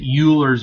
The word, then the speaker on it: Euler's: Please do not pronounce it Euler's Method. It is called Euler's Method, named after the famous